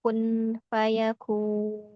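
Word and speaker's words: كن فيكون: Ee karena ini perkataan Allah ya, kun fayakun. Jadi kalau dalam riwayat hafaz itu kita membacanya kun fayakun.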